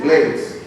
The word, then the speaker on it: Blades: The real pronunciation is Blades. Because my grandfather, my father's father, Blades, was an Englishman from St. Lucie. But in Panama, everybody always called me Blades and there was no problem.